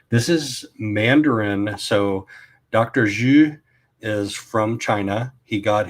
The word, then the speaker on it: Zhu: So, you can say it's kind of like the French bonjour except you like at the very beginning of the R.